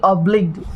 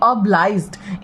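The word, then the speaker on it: obliged: I shall be ऑब्लिग्ड इफ़ you kindly grant me permission. आपकी कृपा के लिए मैं अत्यंत आभारी रहूँगी, ठीक है। एंड देन सॉरी, मैंने इसका प्रोनाउंसिएशन गलत बोला। आई shall be ऑब्लाइज्ड इफ़ you kindly grant me permission, ठीक है।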